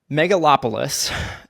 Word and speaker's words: Megalopolis: has funded um okay I need to make sure I pronounce this right megalopolis it is not an easy one but that is how you pronounce it the trailer came out